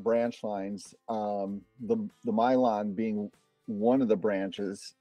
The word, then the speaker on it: Milan: the little village of it's spelled Milan but it's pronounced Mylon you know the Americanization of all those Eastern names I mean the European names so um so it's uh the Mylon branch of the Iowa